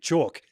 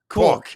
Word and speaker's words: Koch: You must have said rhymes with chalk. In my accent, chalk. Yeah. Because he was saying cork.